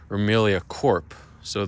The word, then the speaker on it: Corps: Twitter, official Twitter, Remelia Corp. So the P, like Marine Corps, a certain organization. The P is silent, but then if it refers to a company or corporation, you pronounce the P.